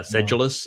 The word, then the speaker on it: sedulous: They tell you, sedulous is the proper pronunciation. Sedulous. What's, of course, is interesting, it's sed, which would be SED, but then ja. How did you get the ja out of UL? Mm-hmm. DJ, said Jew. Said, and then, yeah, but what is that? Where is the J sound in sedulous?